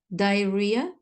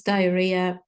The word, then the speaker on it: diarrhea: words number one Health diarrhea dehydration and happening as you can notice diarrhea know the H is not pronounced second set of words